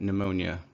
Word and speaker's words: pneumonia: It's also silent in other things like pneumonia, where you have a P and it precedes an N.